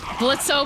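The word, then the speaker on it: Blitzø: Blitzo, but the O is silent.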